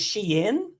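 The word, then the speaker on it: Shein: fashion world but what's the correct way of pronouncing it I mean so so it's Sheen um I'm still guilty of calling it Sheen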